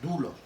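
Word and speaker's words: δοῦλος: la palabra esclavos pero se pronuncia dulos porque un diptongo diptongo en la unión de dos vocales la o y la u y dentro de la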